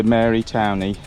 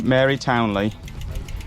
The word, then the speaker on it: Mary Townley: town sorry lady townley i've been saying it wrong the whole way around i kept correcting these two and it turns out i was wrong me mary townley and we think that